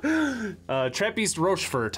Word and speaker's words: Trappistes Rochefort: Trappistes Rochefort, I think is how it's pronounced in the Belgian.